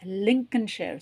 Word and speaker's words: Lincolnshire: லிங்கன், சிஓஎல்என், அந்த இருக்க இந்த ரெண்டாவது எல்லை வந்து உச்சரிக்க மாட்டோம். லிங்கல்னு ஷேர்லாம் சொல்லக்கூடாது. லிங்கன்ஷயர், லிங்கன்ஷயர். ஷாயர்னும் சொல்ல மாட்டோம். லிங்கன்ஷயர், லிங்கன்ஷயர்.